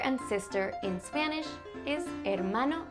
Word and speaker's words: hermano: Do you have a brother, un hermano, or a sister, una hermana? Brother and sister in Spanish is hermano y hermana. It starts with an H, but you don't really pronounce the H.